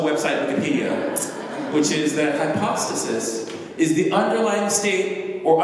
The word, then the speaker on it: hypostasis: This word is pronounced hypostasis in English, but it's pronounced in Greek hypostasis. And it comes from a Greek root, Greek upo, under, and stasis, standing.